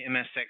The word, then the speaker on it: MSX: the MSX group the MSX group it rhymes with Erics software where we turn the